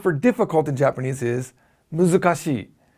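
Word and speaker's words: 難しい: That's because the word for purple is murasaki, and the word for difficult in Japanese is muzukashi. 4 syllables, yeah?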